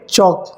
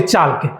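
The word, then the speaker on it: chalk: एल आपका silent होगा ए और के के बीच में क्या होगा एल साइलेंट होगा जैसे यहां पे क्या लिखा है वॉक वॉक ये टॉक और वे चौक हां अब इसी को बहुत सारे बच्चे क्या बोल देते हैं वालक टॉल के चालक यस तो आपको ये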